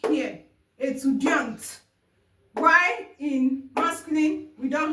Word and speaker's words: étudiant: Étudiante. Why in masculine we don't have E? The T is silent.